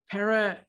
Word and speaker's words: pareidolia: And I need to look up the pronunciation of this. Way past my notes. All right, here we go. It's pareidolia.